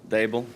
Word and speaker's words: Daboll: it's Daboll. D like table, Daboll.